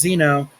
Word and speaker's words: xeno: superior to one zone the Greek root Zeno pronounced Zeno means stranger or foreign guest and